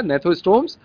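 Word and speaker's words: gnathostomes: जी silent रहे यहाँ पर स्पेलिंग में, ध्यान दीजिएगा, नेथोस्टोम्स।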